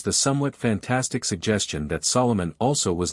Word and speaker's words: Solomon: king's compatriots called him Solomon pronouncing his name as an amphibrach not as a Dactyl as we do the name of hyam